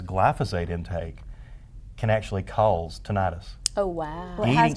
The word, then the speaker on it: tinnitus: Let's go to, I have struggled with tinnitus. Am I saying it right? Tinnitus for many years.